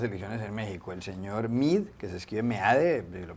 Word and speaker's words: Meade: ¿El señor Mid, que se escribe Meade, lo pronunciará uno en español?